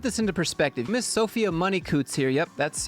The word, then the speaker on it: Money-Coutts: let me put this into perspective Miss Sophia money Coots here yep that's how you say her name